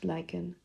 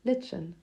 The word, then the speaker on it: lichen: Regarding the pronunciation of lychen, we did some research. Its Greek ethmology means that it is indeed pronounced lychen. However, depending on where you come from, you might hear it pronounced as lichen.